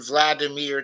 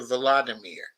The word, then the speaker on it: Volodymyr: including his name, and went from Vladimir to Volodymyr.